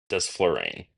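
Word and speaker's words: desflurane: So, at 24° Celsius, the common anesthetic deslorane is how you pronounce that. Des fllororane um is going to the common anesthetic deslorane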